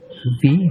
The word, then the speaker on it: Wie: ভি হাইসেন জি। Wie heißen Sie? হ্যাঁ, Dutch হচ্ছে ডাব্লিউ হচ্ছে ভয়ের মতো উচ্চারণ হবে।